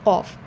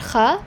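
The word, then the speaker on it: ق: So it is not kha, it is qa. All sound should be present, like I say claw, flaw, law. So all sound should be present when you are pronouncing qaf.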